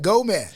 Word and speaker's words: GO79MAN: That's how it's pronounced? Yes, right. GO79MAN.